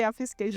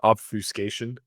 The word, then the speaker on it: obfuscation: Julie, you should know how Eddie pronounced obfiscation. Eddie say offiscation. Yeah. Oh, my favorite word. Obfuscation.